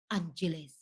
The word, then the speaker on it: Angeles: Like these always like they always told you, oh, it's Angeles. It's Angeles. Angeles. Angeles. They don't pronounce the G.